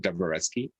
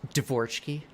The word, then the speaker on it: Dvoretsky: So there's a very famous book by Mark Dvoretsky. It's called The Endgame Manual. Sorry, I have to correct you. Ideas... I learned from Ludwig that the pronunciation is Dvorsky. Dvorsky.